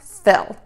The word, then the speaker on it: fill: Just because this word is spelled with two L's at the end doesn't mean we pronounce it twice.